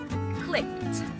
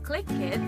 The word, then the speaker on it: clicked: and the last word clicked clicked do not say click it let's say clicked clicked very good these words